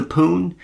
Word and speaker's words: Pone: It's spelled Pone, P-O-N-E, the Poon, rather than P-W-N, which is what it would be, how you would spell it if it was like a video game Pone. But right. I think, it's just phonetically spelled.